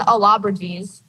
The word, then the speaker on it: Allobroges: I lost on Allobriges. It's spelled ALLOBROGES.